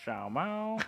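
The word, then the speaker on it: 小猫: say Shama like Sadie how do you say cat she's like Xiao ma Mike do you have to say it like that like regardless of election matters the inflection matters regardless now he was trying to say see it starts high and then goes low thought he was going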